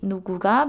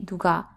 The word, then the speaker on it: 누가: La prima cosa che dovresti ricordare è che non dovresti mai e poi mai dire "누구 가" perché sarebbe sbagliato. Pronuncia invece "누가".